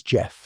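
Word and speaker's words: Gef: My name is Jeff, it said, pronouncing it with a soft G.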